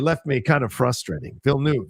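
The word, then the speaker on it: Villeneuve: me kind of frustrating Vil new yeah vill new all right Den Ville new got it that's how he said it oh well oh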